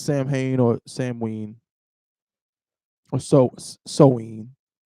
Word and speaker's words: Samhain: Samhain or Samhain is pronounced sow, as in female pig, Mm-hmm. ween, Right. the neutral vowel sound, Mm-hmm. not Samhain, Mm-hmm. because MH in the middle of an Irish word is what?